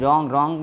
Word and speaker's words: wrong: RWRIT right means लिखना, रॉन्ग WRONG रॉन्ग यानी गलत, यहाँ पे W जो है वो साइलेंट के रूप में रहेगा, WAT वॉच मतलब देखना,